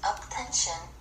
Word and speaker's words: UP10TION: keep crush interview with attention attention pronounced attention as a Korean boy